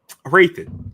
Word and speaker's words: Hrathen: Raithan. Um I don't know why it's it's the H I think is always like throwing me throws you. Yeah. It's like it's the H is silent.